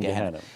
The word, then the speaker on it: Gehenna: So let's just talk about, you know, I'm going to pronounce Hades and Gehenna. I'm just going to pronounce it like an American, you know, Hades and Gehenna.